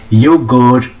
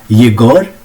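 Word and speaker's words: Егор: सेट जेरसिम, देखिए अब इसको हम प्रोनाउंस करेंगे, येगर पढ़ेंगे अब इसको, येगर डेनलिच, लेकिन इसका नाम क्या है, येगोर डेनलिच।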